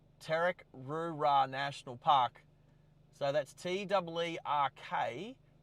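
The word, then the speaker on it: Teerk Roo Ra: But it's Terek-Rura National Park. T-E-E-R-K-R-O-O-R-A National Park. And that's that island directly in front of us. Terek-Rura National Park. Okay. I would actually probably pronounce that Tick. T-E-E. What? How would you pronounce it? You'd pronounce it what? Tick. Terek-Rura. Tick. That's it. Tick-Rura.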